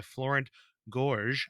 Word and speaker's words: Florent Gorges: playing cards to Game and Watch it's by Florence Gorge I found out that's the correct pronunciation according to the Internet so yeah we're